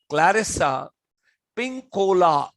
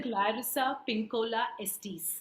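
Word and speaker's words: Clarissa Pinkola Estés: l a r r i s s a clarissa pink cola now the correct pronunciation ma'am will give dr clarissa pinkola estes okay that's and she writes she's written a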